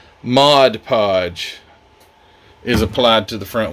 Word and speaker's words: Mod Podge: the videos here recently cuz I caught it Modge Podge well give me a break I can't even